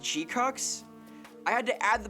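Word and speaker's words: GQuuuuuuX: No, no, it's pronounced G-cucks.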